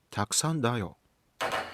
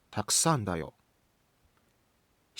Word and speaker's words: たくさんだよ: たくさんだよ⓪ Standard Japanese is たくさんだよ③.